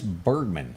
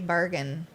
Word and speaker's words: Bergen: that i did not candice bergman is her name did i pronounce that right yeah i think it's supposed to be bergen yeah candace bergen came